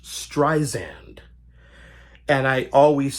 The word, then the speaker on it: Streisand: For some reason, I thought her name was pronounced Streisand. And I always said Streisand. Now, as I got older, I did realize the proper pronunciation is Streisand.